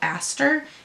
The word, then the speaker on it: Aster: It's called Aster, A-S-T-E-R, I think is how it's pronounced.